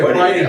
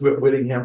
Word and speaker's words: Whitingham: Like, Yeah, we say Whitingham. Whitingham in Vermont, yeah.